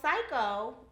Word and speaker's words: Syeko: designer of psycho so psycho actually means to think outside the box and achieve your dreams and it's spelled s-y-e-k-o so psycho i actually started it